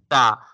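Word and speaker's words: ت: Ta. Ta will be pronounced as I told you when tip of the tongue touching to the gums of upper two front teeth.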